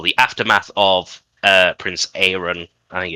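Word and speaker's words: Aerion: buildup uh well the aftermath of uh Prince Aaron. I think it's Aaron. I can't remember his pronunciation of his name.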